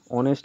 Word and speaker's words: honest: তো এখানে আমরা জানি অনেস্ট এখানে ভাওয়েল সাউন্ড আসছে, এটা কনসোনেন্ট লেটার দিয়ে স্টার্ট হওয়ার সত্ত্বেও এখানে এইচটা সাইলেন্ট, এইচের যে প্রোনাউন্সিয়েশনটা এটা সাইলেন্ট থাকে, ঠিক আছে।